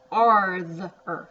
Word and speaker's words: farther: Okay, now that looks like father, but it's got an AR in it. Don't let it trick you. Farther, farther.